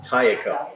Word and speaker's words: Taeko: No, it's Taeko. Taeko. Lisa's mom. 3 syllables.